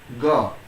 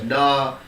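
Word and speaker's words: ङ: This fifth letter is actually the nasal sound. Nasal means what? Nasal means a letter that is being pronounced with your nose. If you are not using your nose, then the proper pronunciation cannot be done. This letter is called ga. Now some of you are speaking as da, some of you are speaking maybe like anga. All are wrong.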